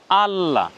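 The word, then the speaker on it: الله: বুঝি আলাদা আলাদা করে তাহলে উচ্চারণ এভাবে করতে হবে যে স্বরে ওয় এর উপরে অর্থাৎ আলিফের উপরে জবর আকার আ তার সাথে জজম আছে লামে ল ধরবো লামের একক ল দে উচ্চারণ হবে আল তারপরে ল এ আকার লা উচ্চারণ কেমন হবে আল্লাহ কিন্তু কোরআন মাজিদে যখন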